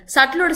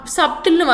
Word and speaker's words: subtle: சட்டிலோட spelling வந்து SUBTLE. ஸோ சப்டில்னு வாசிப்பாங்க. இட்ஸ் நாட் ஹவ் you pronounce the word சப்டில்ங்கிற word is grammatically wrong. It இஸ் சட்டில்.